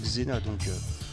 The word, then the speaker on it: Xena: Vous avez vu, j'ai nommé un personnage de la pièce là, G-Z-E-N-A. Donc ça se prononce Xena.